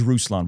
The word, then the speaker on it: Ruslan: My name is Rouslon, by the way. So, I've been mispronouncing your last name. You've been mispronouncing. Roosan.